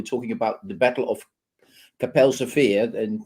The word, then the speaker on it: Kapelsche Veer: about the battle of capel sofia and that's the correct pronunciation in dutch capell sofia so um uh but